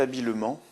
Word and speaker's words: habilement: Premier exemple, il s'est habilement sorti de la situation. On a une prononciation en aimant, donc habilement s'écrira avec un seul M, donc E-M-E-N-T.